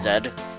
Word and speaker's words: Z: Oh, because it's supposed to be pronounced Zed in British.